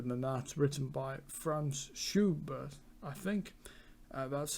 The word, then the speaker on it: Schubert: it's much older than that written by franz schubert i think that's how you would pronounce it is german and uh it's just